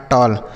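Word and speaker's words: tall: अब ए के बाद अगर डबल एल लिखा रहे बच्चों ए के बाद डबल एल तो इसका उच्चारण अ हो जाता है। एल से लॉ लिखा टॉल लिखा टॉल मतलब होता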